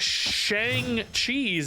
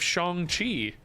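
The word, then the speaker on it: Shang-Chi: one is oh oh I hear a lot of Shang cheese instead of Shang Chi I feel like I hear pretty much every other streamer say Shang Chi that one I saw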